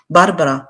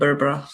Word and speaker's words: Berbera: እንጂ ለኢትዮጵያ ልማት አይሆንም ባርበራ ምንድነው ያልኩት በርበራ አይደል የሚባለው ምን ባርበራ በርበራ አይደል የሚባለው that's what it says in English በርበራ ነው የሚለው did I say it wrong እኔ ስም ላይ I'm not good ብዙ ጊዜ የሰው ስም አሳስቼ ነው የምናገርና as far as I know it's called Berbera እና ሜስ ውስጥ ነው